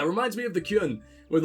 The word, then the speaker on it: Qun: ] and like everyone that was a terrible pronunciation i'm sorry i meant to say kyuen q-u-n and that came out very poorly um yeah it reminds me of the kyun with like everyone having